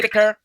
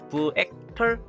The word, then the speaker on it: Vector: 그렇게 설정했을 때는 Hey 이제 V자 발음이니까 Vector, 네, 뒤에는 털자, 시작은 V자로 해서 vector 뭐 이런 식으로 하면 되는데요.